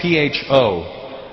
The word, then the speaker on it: pho: It's spelled P-H-O. Pho. But it's not the way it's pronounced. And in America, people are fucking annoying because I'll be like, yeah, let's go get some pho. And they'll be like, you know, Russell, it's actually pronounced pho.